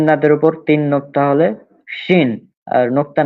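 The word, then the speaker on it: شين: হ্যাঁ, তিন দাঁতের উপর তিন নোক্তা হলে শিন, আর নোক্তা না হলে সিন।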